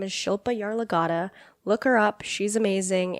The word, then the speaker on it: Shilpa Yarlagadda: I should say her name her name is Shilpa yaar lagata look her up she's amazing and listen to